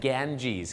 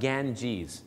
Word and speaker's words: Ganges: คง ค ค ข ฝรั่ง ออก เสียง ว่า The ganges ครับ เหมือน แกน สับปะรด แล้ว ก็ jees ครับ ganges the ganges river แม่ น้ำ อัน นี้